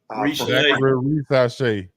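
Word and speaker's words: Risacher: And because I don't really know how to pronounce his name, I'm just calling him ZR. Risache.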